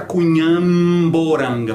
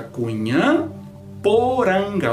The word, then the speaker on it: Cunhamporanga: Em Cunhamporanga, a consoante P de poranga está encontrando uma nasal aí, certo? Mas ela não vai se distender. Não vai ficar Cunhamporanga. Por que não? Porque a sílaba que vem depois é nasal. Então fica Cunhamporanga. O P não se altera.